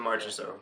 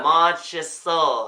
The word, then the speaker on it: Marchessault: You gotta do the French accent. Yeah, Marchessault. Oh, it's like Jonathan Marchessault.